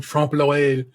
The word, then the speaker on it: trompe l'oeil: Ellie came through with the French pronunciation trompe l'oeil, which is French for deceive the eye, which is what I went and looked up.